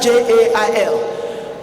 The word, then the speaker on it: gaol: He pronounces jail and writes JAIL. But the British will write GAOL and expect you to pronounce it as jail.